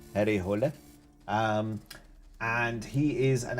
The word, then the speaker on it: Harry Hole: Um, and it is about a detective called Harry Hull, probably pronounced Harry Hole.